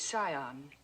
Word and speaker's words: scion: Yale, a yacht, and the scion of a prominent family. The word is scion. The C is silent.